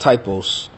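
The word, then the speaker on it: τύπος: That word there is pronounced typos.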